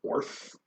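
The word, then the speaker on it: Oerth: like the world of Orth o e r t. It sounds like earth but it's it's like I think I think it's pronounced orth.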